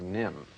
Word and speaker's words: NIMH: called The Secret of nim well our first movie is a delightful animated feature it's called The Secret of nim and let's stop right there with that title now Nim is spelled ni MH and no doubt some